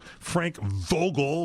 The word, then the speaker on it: Frank Vogel: So Frank Vogel with a V, as in Valley.